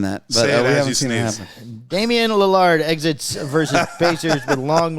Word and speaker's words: Lillard: Liard. No. No. Oh, what? Lily. Lar. Back to Lard. Lillard. Damen Lard. I'm going to sneeze. I can't see. I don't want. You keep saying that, but Damen Lillard exits versus Pacers with long leg injury.